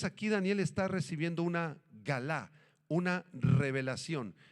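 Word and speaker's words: גלה: Esta palabrita revelación, apúntenla, es la palabra hebrea galá, galá con acento en la segunda A, que significa descubrir o revelar.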